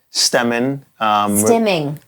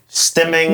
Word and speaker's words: stimming: so we from the previous episode we spoke about stemming. Stimming. Not stemming like You you're say building stemming. stems of a plant.